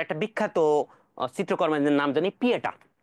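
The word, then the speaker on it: Pietà: বিখ্যাত চিত্রকর্মের নাম জানি পিয়েটা। তুমি চাইলে অনেক কিছু পড়তে পারো, তবে একটা জিনিসই মনে রাখতে হবে, পিয়েতা। অন্য কিছু ভুলে যাও, পিটা বা পিয়েতা তুমি যেভাবে উচ্চারণ করো না কেন, এটা ইতালিয়ার ভাষায়।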